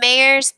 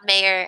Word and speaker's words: Mairs: And that's Mairs, M-A-I-R-S, not mayor as in the governmental figure of a city, right?